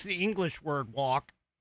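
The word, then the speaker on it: wock: it's the English word walk, it's W-O-C-K is how it's pronounced, or how it's spelled.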